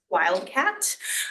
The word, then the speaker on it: WILDCAT: You pronounce this Wildcat, WILD comorbidity adjustment tool.